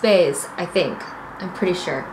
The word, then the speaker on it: BEIS: got baggage flatted space it's b e i s but it's pronounced base i think i'm pretty